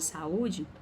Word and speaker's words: saúde: vogais esse é bom a palavra saúde quando eu falo saúde eu percebo que eu tenho acento agudo no u nesse caso o acento agudo no u faz com que o se torne uma vogal e vogal não pode ficar na mesma sílaba professora então a senhora